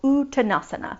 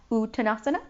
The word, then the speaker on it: Uttanasana: are going to do a bigger fold called uttanasana please say that uttanasana now say it like you're impressed ooh tanasana